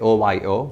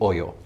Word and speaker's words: OYO: yeah so we have we usually receive this pronunciation or sometimes people say Ohio but it's actually oil oh yeah yeah great